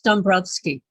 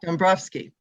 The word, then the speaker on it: Dąbrowski: This piece came Pilsudski, and it's Dąbrowski. Oh, okay, thank you. You're welcome. Dąbrowski. Did I get it? Close? Say it again. Dąbrowski. It's just Thank the you. W pronounced More like an F. like an Off. Okay. like Thank you. like a V.